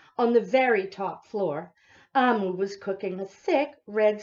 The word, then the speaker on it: Omu: Now, I thought it was Omu. I opened it up, and there is a note to the reader. Amu is how it's pronounced, and it is a term meaning queen in the Igbo language.